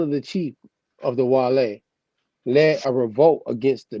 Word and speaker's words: Guale: starts with a g but to me how you pronounce this like with a w you know that yeah the original language you would have pronounced it as a w as a matter of